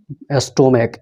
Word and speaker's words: stomach: जैसे कि स्टोमक, STOMACH, भले ही ये CH से अंत हो रहा है लेकिन इसका उच्चारण क्या है, क है।